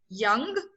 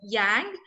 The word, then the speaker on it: yang: So some of the pronunciation that people can correct was, Vidhu, you pronounced yang as young, so yang, and anarchy is anarchy.